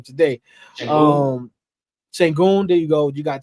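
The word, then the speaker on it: Şengün: And Algin, is that how you say his name? I'm throwing off everybody's name today. Sengun, there you go.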